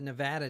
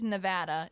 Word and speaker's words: Nevada: Well, tonight, so I got some great stories this week, and we're starting with the Nevada tan story.